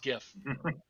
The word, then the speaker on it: GIF: invented the the gif said that it's pronounced jif but it this video explains why it should not be pronounced gf it should be pronounced gif even if the guys